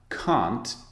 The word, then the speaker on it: can't: you think you can't now can't is an interesting pronunciation because in American English it sounds like can it sounds like the positive form I'll try and imitate